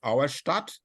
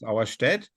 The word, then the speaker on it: Auerstedt: It's Arcolay, or say it like the French, Arcole, maybe, or like the Battle of Auerstadt, which doesn't exist. It's Auerstedt.